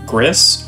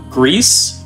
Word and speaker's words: Gris: seen it before uh you might think it's griss or gray uh depending upon what language you're using to pronounce it but it is Greece it is Spanish for gray uh we have about